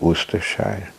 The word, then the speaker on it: Worcestershire: In England the names are quite like, it's spelled as actually Worcestershire and it's pronounced as Worcestershire.